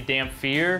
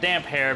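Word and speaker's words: Damphair: it differently they say damp fear george RR martin admits that he probably should have put a hyphen in the name but it is pronounced damp hair because his hair is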